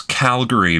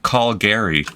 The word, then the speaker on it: Calgary: Oh, and don't mispronounce Calgary, because residents hate it if you say something like call Gary.